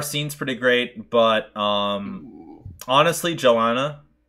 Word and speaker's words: Johanna: Our scene's pretty great, but honestly, Johanna. Johanna, yeah. Oh, that's right. That's how you pronounce it, Johanna.